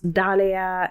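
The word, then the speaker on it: dahlia: I pronounce them as Dalia. I know that some people pronounce them as da, but it's D A H. Like, you know, it's it's a duh.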